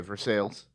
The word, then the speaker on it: Versailles: I believe they pronounce it Versailles because we're in America. Okay, for sales.